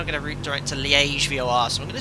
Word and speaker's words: Liège: So directly overhead Sitets, and we're now going to route direct to Liège VOR.